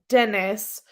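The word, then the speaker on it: Deniz: Pronounced like Dennis.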